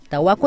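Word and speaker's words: Tawaqu: En Aymara la U no existe, ¿no? Entonces, si ves una U, es O. Entonces se escribe Tahuacu, pero se lee Tahuaco. Tahuaco es mujer joven, ¿ya?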